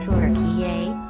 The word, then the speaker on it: Türkiye: values he said turkey is pronounced turkey in line with how turks enunciate the country's name the president and his